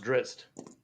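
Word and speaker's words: Drizzt: uh dris dordon several times all right it's pronounced drist yes so no it's pronounced drist so I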